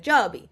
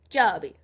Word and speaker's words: Giobbi: DJ tennis or like the Italians like Joby which is how you Joby how you say it in Italy but like even we say go because we're American but yeah so